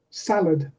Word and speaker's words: salad: on the first syllable alarm alarm has the stress on the second syllable salad stress on the first so we can go